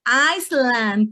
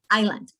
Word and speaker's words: island: Some of our students may say Iceland teacher, right? And guess what? We don't have any s here. It would be island.